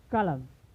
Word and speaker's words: column: Next हमारा है कि जब कभी यन यम के बाद आता है, तो यन का उच्चारण नहीं होता है। जैसे आटम, then column him।